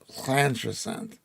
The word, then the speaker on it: Llantrisant: Llantrisant, the LL is pronounced Llantrisant.